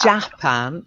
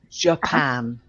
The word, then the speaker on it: Japan: one is very important it's yeah it's not jack pan it's Japan kept our hands yeah we say don't ask